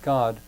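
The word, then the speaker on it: Godde: to use the word god but when i write it i spell it g-o-d-d-e it's pronounced the same way but by going with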